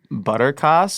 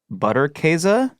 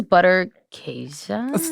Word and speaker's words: Butterkäse: Okay, so I would have said butterkass or butterkass, but I feel like so many Germans have told me that it's pronounced very differently. Okay. So then me now would say Butterkäse.